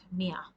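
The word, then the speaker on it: مائة: on its seat and this is how you write the name Mia and this alif is not pronounced and this is the name for 100 n Arabic Mia now in this lesson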